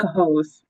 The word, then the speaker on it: Cohoes: it's C-O, Cahos.